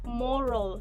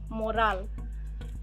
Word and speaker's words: moral: pronunciation again it is moral not morale here the a is reduced into a schwa sound and we will pronounce